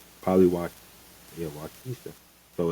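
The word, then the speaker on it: Waukesha: It's spelled W A U K E S H A. So, it's Polyw. Yeah, Wisha.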